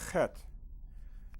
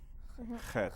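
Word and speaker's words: ח: Okay, now that's an unusual sound. Chet. Very important. It's a guttural sound.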